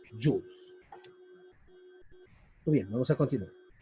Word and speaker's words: joule: Joule, que se lee joules.